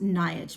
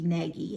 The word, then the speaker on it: Nagy: I believe in Hungarian her last name is pronounced Nagy, but in English it looks to be Nagy, N-A-G-Y.